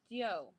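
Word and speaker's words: diu: And then this one kid raises his hand, and he goes, oh, well, in Cantonese, D-I-U is pronounced dio, like you pronounce every letter, right?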